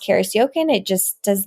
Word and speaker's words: Karis Jochen: i s j o c h n it's pronounced Caris yoken it just does not look that way awesome